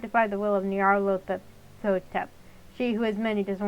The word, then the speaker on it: Nyarlathotep: There's no official way to pronounce that name since it's a made-up nonsense word, but I prefer Nyarlathotep.